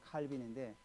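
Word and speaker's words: Calvin: 하나님 나라를 생각하면서 예전에 그 종교 개혁 당시 때 프랑스 신학자 칼뱅이라는 사람이 있죠. 영어 발음은 칼빈인데 이분이 이제 프랑스에서 사역을 하지 않고 스위스로 가서 사역을 했어요.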